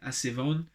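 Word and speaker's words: ἀσεβῶν: Asivon, Asibon, Asibus, Asivon, when you're pronouncing it, is a word which means ungodly.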